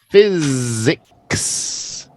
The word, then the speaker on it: physics: gonna get deleted ah physics see Fizz physics sorry look at your phonics here all right really it Fizz and then we just go from the z z physics Glory um again spy